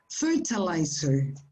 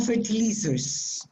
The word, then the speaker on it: fertilizer: these words that is fertilizer yeah i don't know fertilizer fertilizer or fertilizer the british say fertilizer fertilizer fertilizer and the americans fertilizer fertilizer both are okay but not for it losers okay life yes and